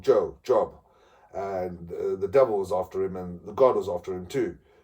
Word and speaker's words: Job: and this man called Job. It's spelled J-O-B. J-O-B. It's Job. Because it's Job, because it's days of the Hebrews.